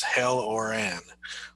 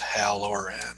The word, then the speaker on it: Halloran: then you speak it, it says hell or an. Well, that would make my dad really upset because he really likes it to be pronounced Halloran.